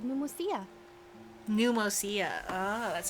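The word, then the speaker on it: Pneumousia: Pneumosia.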